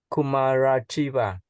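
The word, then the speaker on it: Kumārajīva: can you pronounce his name? Kumarajiva.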